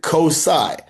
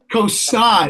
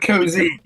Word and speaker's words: COSI: Now, we do pronounce it COSI. COSI, not COZY.